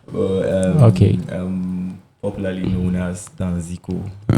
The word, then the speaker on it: Danziko: Waiting me the proper pronunciation. Danziko.